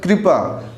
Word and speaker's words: कृपा: सीधा सा मतलब है जब भी इसका प्रोनाउंस होगा तो ई की तरफ जाएगा क्र क्र है ना तो कृपा तो इसमें